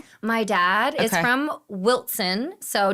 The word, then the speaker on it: Wilson: My dad is from Wilson. So, W I L S O N, but you pronounce it with a T. It's the southern way.